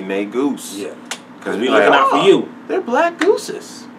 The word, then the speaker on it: Negus: Facebook yeah yeah tell them about the real nay Goose reviews make sure you pronounce it right don't pronounce it wrong I